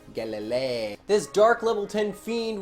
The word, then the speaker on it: Galilei: started dd savant Galilei bet you thought I was gonna not pronounce that right I actually am not entirely sure I did but I'm pretty sure it's supposed to be like Galileo Galilee get Galilei this dark little tin